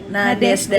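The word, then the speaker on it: Nadezhda: Jadi ya Nadesda, ya bacanya gimana sih? Siapa toko Nadesda? Nadesda ya benar, Nadesda.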